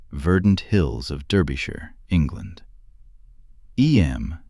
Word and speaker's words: Eyam: Eyam, you know, is pronounced just like Em.